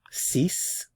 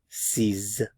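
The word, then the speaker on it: six: and sank sank sank this can be pronounced one of three ways if it's just a number that you're counting ceas before a consonant C before a vow sound CES so c c c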